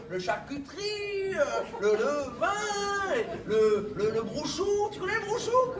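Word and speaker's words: brocciu: charcuterie, le vin, le brouchou. Tu connais le brouchou? Je connais pas, Bouchou. Ah ouais, c'est normal, c'est mal prononcé, on appelle ça le brouch.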